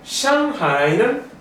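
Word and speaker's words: 上海: 그 다음에 상하이는 어떻게 중국어로 발음하냐면요, 이렇게 발음합니다.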